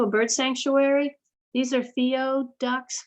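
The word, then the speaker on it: whio: These are Theo Ducks, which is W-H-I-O, but W-H is pronounced F.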